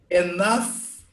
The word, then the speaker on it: enough: Enough, enough. We pronounce like F.